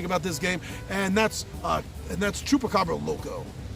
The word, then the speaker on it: Chupacabra Loco: this game, and that's Chupacabra Loco. Me and my friends, we mispronounce it from day one, and the mispronunciation is stuck in our head, and we call it Choco Loco!